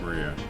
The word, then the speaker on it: Maria: Of course it's pronounced Maria.